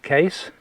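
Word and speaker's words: Keiss: there yeah yeah um it's how would you pronounce that k-e-i-s of course okay Case Case Castle not heard of that one okay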